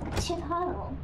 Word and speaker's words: Chipotle: did good job good job us yes is pronounced Chipotle oh Aristotle Chipotle oh I look forward to